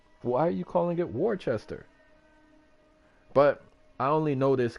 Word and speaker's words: Worcester: seven is actually Worcester but everyone will say Worchester and I'm like where is the H bro there's no h why are you calling it Worchester but I only know this cuz I'm from